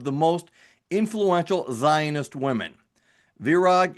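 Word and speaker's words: Virág: Is it Virag, Vira? It's Virag.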